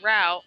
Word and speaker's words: route: trifling route three three I'm glad I'm not the only person that pronounces it root because I've seen people pronounce it route and I'm like yeah it pretty much goes either or strange to me it